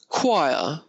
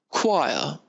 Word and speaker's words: choir: Here, choir, choir.